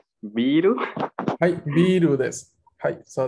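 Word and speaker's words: ビール: A ver, se han inspirado de la palabra beer, pero claramente no lo podrían pronunciar en Japón. Biru.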